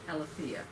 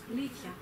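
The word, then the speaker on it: aletheia: that we're going to learn about today called Alithea. A-L-T-H-E-I-A. Alithea. Alithea.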